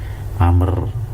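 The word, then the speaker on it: عمرو: baik, min amrin, dari amr ya. Jadi ini bacanya amr ya, kalau ada ain mim ra waw itu amr, kalau nggak ada wawunya bacanya umar malah.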